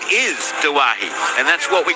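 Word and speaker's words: Doueihi: When it comes to Adam Dewey's name, you take the easy pronunciation of Dewey. Adam's last name is Duwahi, a very big family in North Lebanon.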